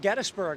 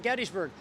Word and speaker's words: Gettysburg: It's properly pronounced Gettysburg, and no matter how many times we say it, people tend to want to call it Gettysburg. I know that I say it wrong, but I like the way it sounds. I'm used to it, and Tim seems to be coming around to the proper pronunciation.